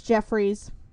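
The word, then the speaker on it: Geoffrey's: as Joffrey's toy box I know it's Jeffrey's but you can't spell it with the Geo not expecting me to say Joffrey it looks like Joffrey it's pretentious it's Joffrey anyway and KV toys after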